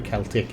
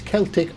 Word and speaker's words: Celtic: shouldn't have put the Celtic in. By the way, there is 2 ways to pronounce it. It's Celtic or Celtic. Both were absolutely fine, and both are technically correct, okay?